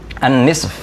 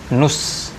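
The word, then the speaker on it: نصف: setengah itu bahasa Arabnya annisf annisf itu artinya setengah ya kadang orang Arab bilangnya enteng aja Nus ya dari kata Nis Tapi diucapkan Nus Nus jadi seolah-olah hanya Nun dan SH saja Nus Nah kita masuk ke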